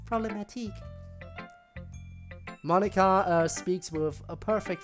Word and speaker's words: Problematique: It's pronounced problematique.